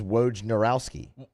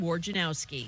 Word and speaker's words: Wojnarowski: janowski it's not w-a-r-g it's not war janowski that's not how you spell it it's w-o-j it's roge woj narowski it's it's phonetically spelled w o j n a r o w s guy whoa narowsky it's not hard it's actually a very